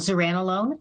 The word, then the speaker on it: zuranolone: It's called zuranolone or Zurzuvae.